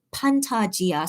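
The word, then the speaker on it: 판타지아: But if I say it in Korean, I say the Korean way, Pantagia.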